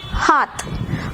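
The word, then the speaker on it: हाथ: ஹா இத், ஹாத்.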